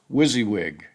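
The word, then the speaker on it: WYSIWYG: Manuscript formatting for paperback and hard coverver is usually described with an acronym that's pronounced wizzywig.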